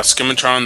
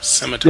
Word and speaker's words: scimitar: Scimitar. Yo, he read the C in the word.